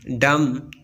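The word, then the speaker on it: dumb: Silent B. B is not pronounced when following M at the end of a word. जब B से पहले M आता है तो बी को प्रोनाउंस नहीं किया जाएगा। क्लाइम, क्रम, डम, कम, बी प्रोनाउंस नहीं किया जाता।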